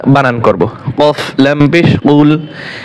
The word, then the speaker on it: قل: কফ লাম পেশ কুল, এখানে কিন্তু বড় কফ দিয়ে হবে, কাফ বলা যাবে না, ক বড় কফ দিয়ে।